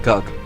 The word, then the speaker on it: Gug: It has a word similar to Gog, but is pronounced Gug.